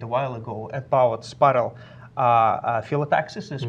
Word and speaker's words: phyllotaxis: Actually, Chris had a blog a little bit a while ago about spiral phyllotaxis, is pronounced like this.